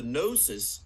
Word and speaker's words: gnosis: got this thing called the gnosis of course with a G and the g is silent love that kind of